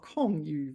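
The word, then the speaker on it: 空余: 空余, oh, 空余, vacant beds. 空 is fourth tone.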